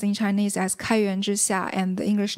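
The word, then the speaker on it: 开源之夏: The Chinese is pronounced in Chinese as Kaiyuan Zhixia, and the English name is Open Source Promotion Plan.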